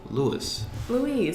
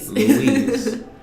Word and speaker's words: Lewis: I'm here with my friend Lewis. Louise. It's just another way of saying it. Emphasis on another syllable.